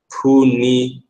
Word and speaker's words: Punu: your brushes my name is pronounced punu punu all right punu how many